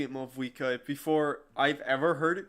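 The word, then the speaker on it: Mavuika: Oh, and feel free to call me Mawika. It's what all my friends call me, and I like it that way. Also, I'm happy that... Because I started pronouncing it Mawika before I've ever heard it pronounced that way, As so...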